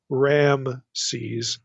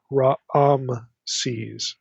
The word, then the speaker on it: Raamses: There's like two A vowels in the pronunciation. It's not Ramses, it's Raamses, the way this is spelled.